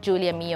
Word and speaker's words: Giulia Mio: millinery as well but my name is spelled g-i-u-l-i-a and my surname is m-i-o so i know it sounds exactly the same but it's spelled differently sorry i'm italian there's